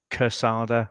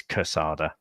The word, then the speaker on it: Quesada: air so it's pronounced casada so it's like as if it's spelled with the K but it is spelled with the Q isn't it so it looks like Quesada book is casada yeah that's it casada